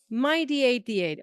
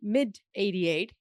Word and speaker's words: MyD88: ways of pronouncing it I would I say myd88 at least that's how my lab said it back in the day as I heard people say mid mid 88 uh but I think